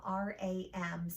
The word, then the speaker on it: Ram: We're going to chant 3 times the word Ram, R-A-M, pronounced Ram.